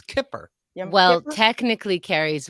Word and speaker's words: Kippur: The accent is on the kip. It's Kippur.